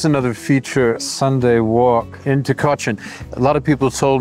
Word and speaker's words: Tykocin: It's Tykocin. Tykocin. The C is pronounced like a CH.